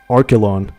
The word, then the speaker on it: Archelon: It's pronounced Archelon.